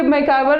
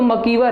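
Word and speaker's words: MacIver: तो ये मैकॉयवर ये बता रहे हैं, देखिए मैकॉयवर जो है एक अशुद्ध शब्द है, मतलब इसको अगर हम बोले कि सही रूप में प्रोनाउंसिएशन क्या है तो मकीवर है, लेकिन चूंकि सब लोग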